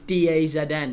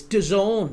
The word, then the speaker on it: DAZN: I have said for ages, it's DAZN, it's DAZN. And everyone was correcting me in the chat. Everybody was saying, it's DAZN. What are you calling it DAZN for? You grandpa, you old-timer. It's DAZN. That's how it's pronounced.